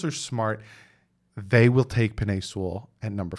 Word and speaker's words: Penei Sewell: Some people say his name wrong. It's PENEI SEWELL.